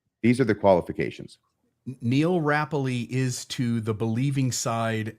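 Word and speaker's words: Rappleye: We're going to meet Neil Rappley, which apparently is how you pronounce it.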